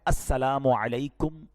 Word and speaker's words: السلام علیکم: السلام علیکم ورحمۃ اللہ وبرکاتہ.